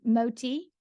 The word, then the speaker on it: Moti: Like my first nickname in the restaurant world was Moti, which stands for, when you say it properly, more tea, as in, Yeah. may I have some more tea?